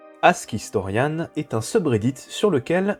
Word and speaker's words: AskHistorians: me balade souvent sur ask historian oui je le prononce mal normalement c'est ask historian tu sais quoi on